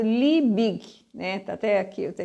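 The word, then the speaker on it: Liebig: o que ele pensou esse li Big né que é assim que a gente pronuncia o nome dele Dr li bigem Em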